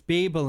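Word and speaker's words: Bibel: that a pronounce it i always thought it was bible b it's beeble in german oh wow that's a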